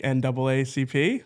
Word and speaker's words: NAACP: This is making me think of like NAACP like Okay. I think but that's double A. I think double A is is the right way to say it.